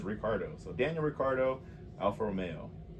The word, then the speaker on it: Ricciardo: to look this up it looks like it's spelled ricciardo or richardo but i guess he himself pronounces it incorrectly as ricardo so daniel ricardo alfa